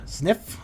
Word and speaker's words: Zniw: enjoyed that was that was nev sniff adventure sniff adventure that is how you say it um